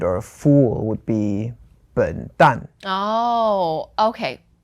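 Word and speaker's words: 笨蛋: For example, like an idiot or a fool would be 笨蛋. Oh, okay. 笨蛋. So 笨 is fourth tone. And then 蛋 is also fourth tone.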